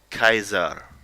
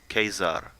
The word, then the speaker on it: Caesar: keep in mind that classical Latin like that in most of the texts we have that were in Latin were pronounced a lot more like Italian you can see that a little bit in for example the the church like if you at school learn Latin you would say Kaiser Kaiser for Cesar and